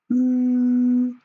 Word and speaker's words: Ü: Auch hier müssen wir wieder einen Kussmund machen. Seht es euch bitte kurz an. Ich bilde euch das Ü. Ü, Ü. Also, wir machen einen Kussmund in etwa so. Hier eine Kreisform. Und der Ton geht wie folgt raus.